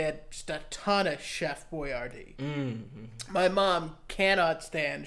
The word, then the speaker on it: Chef Boyardee: Chef Brody's delicious. And it's pronounced Chef Boyardee.